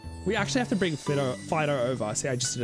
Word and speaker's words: Fidough: catch me out, because in my head I still pronounce Fidough as Fidough, and I know it's pronounced Fidough because it's a bread dog.